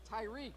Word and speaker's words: Tyreek: How do you say that? Tyreek. Tyreek. Tyreek the third. Killing me, Smalls. Tyreek the third. I had to get corrected on that.